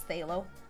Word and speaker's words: phthalo: I think it's phthalo. That's how I would think it'd be pronounced.